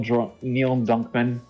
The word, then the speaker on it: Druckmann: Uncharted 4, and there are rumors that Neil Druckmann was Neil.